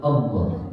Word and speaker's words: Allah: Kemudian yang keenam, tidak boleh memanjangkan huruf hamzah pada lafaz Allah. Nah ini nyambung juga pada aturan bacanya. Hati-hati memanjangkan huruf hamzah. Yang mana? Yang lafaz Allah kan ada hamzahnya di awal. Jadi jangan sampai begini. Allah kan A-nya kan nyambung.